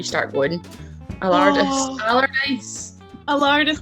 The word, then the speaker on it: Allardice: Allardice like a Tardis.